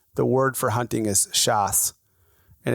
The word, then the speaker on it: chasse: and in French, the word for hunting is chasse, and it's spelled CHASSE, chasse.